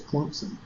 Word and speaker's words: Clemson: He pronounced it the correct way with a P. He didn't do the Clemson. He said Clemson. We're here with Clemson. I was like, you go, boy, you put a P in there.